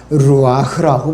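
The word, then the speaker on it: רוח: 영어로는 스피릿이고 헬라어는 푸뉴마라고 그러고 이 히브리에서는 루아흐라고 부릅니다. 발음은 루아흐.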